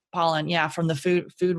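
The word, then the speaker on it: Pollan: that um Michael Poland is it pollen or Poland I was want to say his name wrong but pollen yeah from the food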